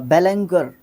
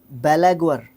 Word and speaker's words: beleaguer: बेलेंगर, नहीं नहीं नहीं नहीं नहीं गलत है, बेलेगर, बेलेगवर, बेलेगवर, ठीक है, तो थोड़ा सा देख लेना इसका प्रोनाउंसिएशन भी, थोड़ा सा वर्ड अजीब सा है, बेलेगवर।